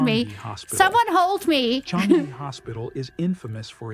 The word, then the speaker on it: Changi: Changi Hospital is infamous for its dark history. It's Changi, for the love of God.